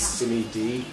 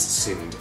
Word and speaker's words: SinneD: discussion suggesting of the various ways people have pronounced it. There's Simi D and there's Cindy. Not Barbie. That is stupid. Anyway, so for the record, it is SIND.